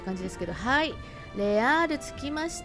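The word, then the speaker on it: Les Halles: 感じですけどはいレアール着きましたまさかこれねレアルって読むと思わなかったんですけども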